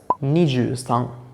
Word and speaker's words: 二十三: following today's lecture the pronouncing algorithm we can pronounce this as niju sang ninju song that's it so that was our